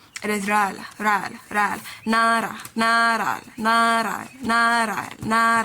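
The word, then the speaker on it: 나라: It is ral, ral, ral, na ra, na ra, na ra, na ra, na ra.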